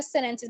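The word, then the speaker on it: sentences: सेनेंस या सेनेंसेस मतलब टी को आप स्किप कर देते हो, सही हो गया।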